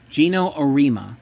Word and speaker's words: Geno Auriemma: Dawn Statley's team beating the team led by Geno Auriemma, I think I'm pronouncing the name correctly. Geno Auriemma. That's how it's pronounced.